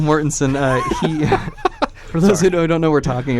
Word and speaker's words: Mortensen: a video I almost I always want to say Morton stein because of that joke from It's Always Sunny in Philadelphia but real Mortensen lissa don't know we're